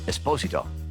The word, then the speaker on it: Esposito: I mean, Lalo even scared Gus Fring, something Giancarlo Esposito vividly captured during their mano a mano showdown. And, yes, it is pronounced "Es-POSE-uto."